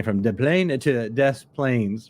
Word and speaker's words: Des Plaines: And by the way, that is pronounced correctly for our friends who are listening, maybe from Europe, who speak French. Here in America, we have some towns that we call Des Plaines, even though it was clearly French about 300 or 400 years ago.